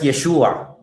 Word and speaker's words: Yeshua: Um oh wait before that I haven't addressed Yeshua. Okay because that's how I pronounce the Messiah's name.